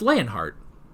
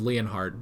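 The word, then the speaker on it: Leonhart: uh Annie turning into lanene uh also it's leanhart not Leonard I thought I just from the way it was spelled I thought it was leonardt but it's leanhart which I mean you know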